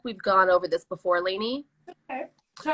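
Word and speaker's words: Lani: you can understand it you pronounce my name Laney l-a-n-i thank you so much for correcting it I actually I think we've gone over this before Lainey okay all right just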